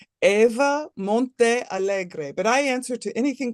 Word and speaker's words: Montealegre: Gallery where Eva has her stuff how do you say your last name uh I pronounced my name Eva Monte Allegre but I answer to anything close Eva is